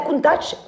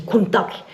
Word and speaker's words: Countach: D'ailleurs à ce sujet-là, il y a aussi beaucoup de gens qui disent qu'on dit Countach. Mais ça voudrait dire que Marcello Gandini le prononce lui-même très mal quand il dit Countach.